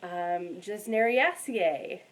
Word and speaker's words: Gesneriaceae: that I'm kind of getting into, which is Gesneriaceae.